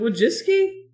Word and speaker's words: Wojcicki: Is it Wojcicki? Yeah. That doesn't sound right for that spelling. That's how she pronounced it.